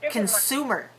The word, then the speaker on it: consumer: Sue in the word consumer consumer consumer notice that the first syllable is very we not con but can see my mouth is